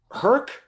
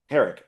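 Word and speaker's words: Herek: Um, uh, Stephen Herk, is that how you say his name? Steven Herk. Oh, the director. Yeah. H, uh, E R E K. No, that's Stephen Herrick.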